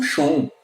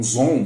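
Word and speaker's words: Xon: é meio que tipo só um Sean, ou um Zon, depende de como você já ouviu a pronúncia desse nome, e a maior parte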